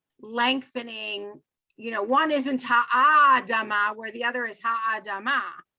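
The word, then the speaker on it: האדמה: Right there, because of the symbol under the aleph, we're going to pronounce Ha-Adama.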